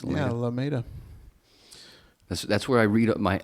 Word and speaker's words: Alameda: Is that how you pronounce it? It's Yeah, Alameda.